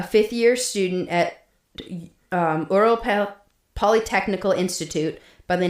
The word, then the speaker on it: Ural: across the northern Earl Ural Mountains. I'm sorry for my inconsistent pronunciation. The correct pronunciation is ural.